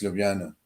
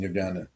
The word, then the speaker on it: Ljubljana: every 2 years, the capital of Slovenia is Ljubljana. Did I pronounce that right?